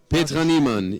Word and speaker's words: Petra Niemann: Am I pronouncing that correctly? Petra Niemann, yes, almost.